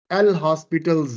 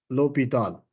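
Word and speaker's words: L'Hôpital: here it is uh L hospitals rule basically um we um pronounce it as l o low and Pall rule low Pall we don't call it l hospital LH o is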